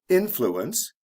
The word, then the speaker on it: influence: For example, influence, the stress is on the first syllable.